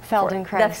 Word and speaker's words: Feldenkrais: who is very familiar with, you have to pronounce the name of this. Feldenkrais.